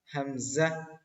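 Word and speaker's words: همزة: very nice এই ওয়াও টাও same সেই ইংরেজি উচ্চারণের মতই ওয়াও ওয়াও ওয়াও হামজা হামজা হামজা হামজা ইয়া ইয়া ইয়া ওয়াও হামজা ইয়া দেখেন হামজা আমরা যে যা পড়েছিলাম এই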